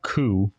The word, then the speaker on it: Qu: However, an alien race called the Ku, it's spelled Q-U, but it's pronounced Ku, attacks unexpectedly, like the Fire Nation.